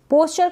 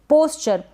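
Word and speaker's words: pasture: पास्चर, इसको हम पास्चर पढ़ेंगे, पैस्चर ना पढ़ें।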